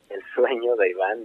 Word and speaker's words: El Sueño de Iván: El Sueño de Iván, is that how you pronounce it? El Sueño de Iván, yeah.